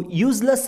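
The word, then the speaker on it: useless: Well, ನಾವು ತುಂಬ ಜನಗಳು ಝ ಶಬ್ದ ಬಳಸಿ ಯೂಸ್ಫುಲ್ ಯೂಸ್ಲೆಸ್ ಅಂತ ಉಚ್ಚಾರಣೆ ಮಾಡ್ತೀವಿ, ಬಟ್ ಅದು ತಪ್ಪು ಉಚ್ಚಾರಣೆ ಆಗುತ್ತೆ. ಈ ಪದಗಳ ಸರಿ ಉಚ್ಚಾರಣೆ ಸ ಶಬ್ದದಿಂದ ಯೂಸ್ಫುಲ್ ಮತ್ತು ಯೂಸ್ಲೆಸ್ ಅಂತ ಬರುತ್ತೆ.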